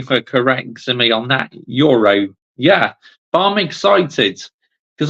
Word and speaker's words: Yoro: Yoro, that's it. Thank you. I said this name right earlier, but I said it wrong that time. So thank you for correcting me on that. Yoro.